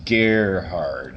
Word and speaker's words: Gerhard: Officially, no, and it's actually pronounced Gerhard, as in, like, rhymes with Amelia Earhart.